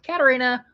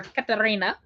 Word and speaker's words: Katarina: Katarina or Katarina, both ways are technically correct.